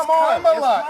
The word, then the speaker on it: Kamala: Kamala Harris. If Kamala, I were a man, you said I would call you Nancy Manchin. It's Kamala.